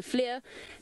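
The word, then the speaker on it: FLIR: by the grace of the Flair or as we've been mispronouncing it to the Fleur but it's the Flair and that of course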